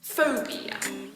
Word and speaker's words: phobia: probably want to say school phobia that's a three syllable word with the stress on the first syllable phobia not for beer unfortunately so how do you